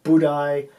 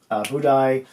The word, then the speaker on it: Budaj: Budaj, why did I put an I there? I know it's pronounced that way, but it's actually spelled with a J. Yeah. Budaj made 15 saves on only 19 shots.